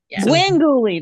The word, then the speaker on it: Gwengoolie: Svengoolie and then Gwengoolie. Gwengoolie, that's right.